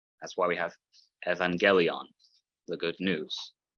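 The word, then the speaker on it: εὐαγγέλιον: That's why we have evangelion, the good news, not you as like the word euphemism.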